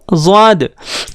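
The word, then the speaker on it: ضاد: दोस्तों, इसका प्रोनाउंसिएशन होता है ज़ाद।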